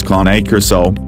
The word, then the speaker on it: Cane Corso: struggling to choose between a Cane Corso, phonetically pronounced as KAH-NAY KOR-SO, and a Bullmastiff, also